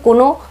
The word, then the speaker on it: কাঁ: এটির উচ্চারণ হলো কা, এটির উচ্চারণ হলো কাঁ।